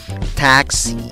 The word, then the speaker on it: taxi: Para pronunciar esta A tienes que sonreír, tirar tus labios hacia las orejas y decir A, A, A. Luego pones el sonido de una K. En la segunda sílaba tienes una S seguida de una I larga. La E con el guión encima significa I larga. ¿Cómo pronuncias la palabra? Taxi, taxi.